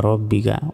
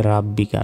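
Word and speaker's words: رَبِّكَ: রবা জবর রব, বাজের বি, কাব জবর কা, রব্বিকা। অনেকে বলি যে রাব্বিকা, রাব্বিকা নয়, রব্বিকা। ওয়াও সিন জবর ওয়াস, তা গইন জবর তাও, ফারজের ফির হাফেশ হো, ওয়াস্তাগফিরহু, থামলে ওয়াস্তাগফির, ফাসাব্বিহ বিহামদি রাব্বিকা ওয়াস্তাগফির।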